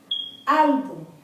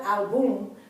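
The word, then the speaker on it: álbum: Album, not album, but album, Y. Accent over the A, because the accent is on the first syllable, the A, A-L, and not on the last syllable, which would have been the album.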